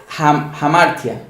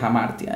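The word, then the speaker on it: hamartia: yo soy modelo evolución en griego en inglés amartya aunque con h amartya es esa es la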